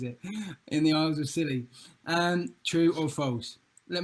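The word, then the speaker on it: Scilly: b-r-y-h-e-r found in the isles of silly i almost said cicely again and that was question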